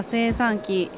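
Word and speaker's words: 精算機: この漢字は精算機と読みます。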